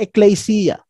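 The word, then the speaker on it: ἐκκλησία: The Greek word po and the pronunciation is the ecclesia.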